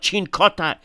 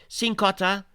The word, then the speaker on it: Cincotta: we had um cincotta apparently you say it's cincotta okay that's the way you pronounce it I've been told this by Damo I.E post he he tweeted he says it's not chincote it's okay so cincotta 16 touches very